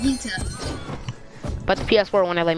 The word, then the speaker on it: Gogeta: I'm here with my boy, Gota 808. It's actually Gogeta, but okay. I call you Gota, and that's what you go by. It's pronounced Gogeta, but it's the PS4. It's pronounced Gogeta.